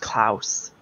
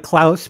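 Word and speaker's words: Klauth: k-l-a-u-t-h oh it's pronounced klaus sure okay so you pronounce it like klaus but with a lisp uh hey my name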